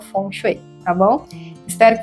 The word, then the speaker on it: Feng Shui: Mas só uma curiosidade, Fonchet é a pronúncia mais aceita eh no mandarim.